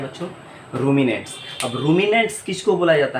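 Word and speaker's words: ruminants: अब देखिए यहाँ पर एक टर्म मैं लिख रहा हूँ, रूमिनेंट्स, प्रोनाउंसिएशन क्या है बच्चों, रूमिनेंट्स।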